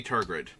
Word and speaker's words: Tegrid: Might be Turgrid. Yeah, that's what it was. I keep missing that there's another R in Tegrid. It's Turgrid.